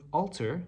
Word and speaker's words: alter: think of the word alter just remember walter alter walter okay that's very similar in pronunciation basically alter means changing